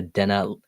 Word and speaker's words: Dina: I'm calling about the Dena Hank Lane property. Yeah. Did I pronounce the street right? It's Dina. Dina.